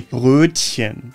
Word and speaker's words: Brötchen: The correct German pronunciation would be Brötchen. Das Brötchen. Das Brötchen. Brötchen. The Ö is pronounced like the English I in the word bird.